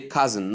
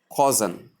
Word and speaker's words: cousin: We say cousin, not cousin. Cousin, not cousin. The silent O sound and not the long O sound.